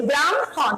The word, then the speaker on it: ব্রাহ্মণ: আমি বলছি ব্রাহ্মণ, আমি আগে ম পরে হয় বলছি, কিন্তু যখন আমি লিখবো আমাকে মনে রাখতে হবে এটা ব্যতিক্রম, তখন সেটা উল্টে যাবে।